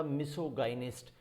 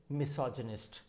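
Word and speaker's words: misogynist: तो ये बन जाएगा मिसोगाइनिस्ट, बट इसे मिसोगाइनिस्ट नहीं बोलते हैं, this is मिसोजिनिस्ट. The pronunciation is मिसोजिनिस्ट हो जाता है.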